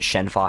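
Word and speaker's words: Shenhua: Yeah, this one, that's one that the dub changes a little bit, but I think that's actually how it's pronounced with like the Chinese pronunciation.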